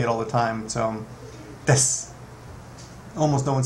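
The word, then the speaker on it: です: other people ask me why don't you pronounce the U at the end well that's a tough one um because well it's there but it's very soft right suppose you could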